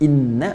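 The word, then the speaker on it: إنّ: Inna pakai taukid bacanya pendek bukan inna tapi inna.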